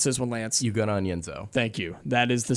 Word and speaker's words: Ugonna: DJ Wagner, Antonio Reeves, Justin Edwards, Tre Mitchell, and then help me pronounce this one, Lance. Ugonna.